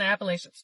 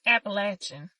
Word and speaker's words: Appalachian: Haunted house and Appalachian. Somebody told me I was saying it wrong. It's Appalachin. Let me know if that's right. Appalachin.